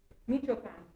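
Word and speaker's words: Michoacán: So Victor is from, will you pronounce where you're from? Michoachan.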